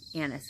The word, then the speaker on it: anise: it and nice nice anise anise is the right word alright way to say that and then the maple